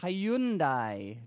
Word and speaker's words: Hyundai: clock by the way Hyundai Genesis C no Hyundai rhymes with Sunday does it that's just